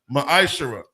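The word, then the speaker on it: מעשר: of Malachi 3: 8-10 means 10th in the Hebrew it's pronounced maish 10% of every penny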